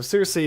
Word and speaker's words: Searcy: Okay, so Searcy is the correct pronunciation.